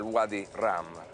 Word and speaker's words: Wadi Rum: Qui siamo nel Wadi Rum, così lo pronunciano qui in Giordania, ed è veramente un